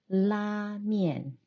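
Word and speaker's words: lamian: to pull the noodles pull is LA and noodles as men so la Mian is the Mandarin version and both Koreans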